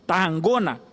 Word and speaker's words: Tarragona: por toda a Catalunha, Tarragona, que é essa pronúncia segundo o catalão, no momento que nós